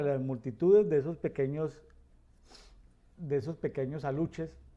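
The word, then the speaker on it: aluxes: Esas legiones de demonios, unos demonios todos pequeños, como gorditos, que se llaman aluches con X, solamente que pronuncia como CH, aluches, en el sureste mexicano.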